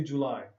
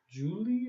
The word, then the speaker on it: July: Yeah, but you did not say July. July. Yeah, you said like Julie or something.